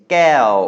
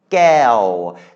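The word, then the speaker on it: แก้ว: It's sala'e, gokai, maito, wawan, and you can hear in the pronunciation, gao. There we have that wawan making a kind of W sound on the end of sala'e again.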